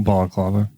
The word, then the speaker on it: balaclava: Oh, a balaclava. Oh, balaclava. Yeah, I don't. I call them baklavas all the time.